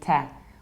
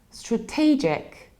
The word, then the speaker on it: strategic: and as a result they say tack whereas in English we need to say strategic strategic we have a reduced first